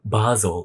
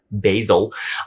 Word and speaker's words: Basil: is about a student named Basel I'm sure that's how you pronounce it instead basil so Basel and at this school